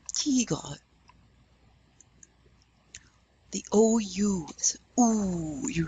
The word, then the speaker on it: tigre: Now we know the E is called an E, so you're going to hear the E. Tigre.